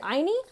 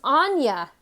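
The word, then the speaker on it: Áine: I've tried pronouncing it Aini. Eeny, meeny, miny, mo. Pronounced Anya. What? I was way off, guys.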